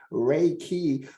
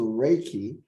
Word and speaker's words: Reiki: universal life force although the proper Japanese pronunciation is Reiki which has been westernized to Reiki um Rey means Universal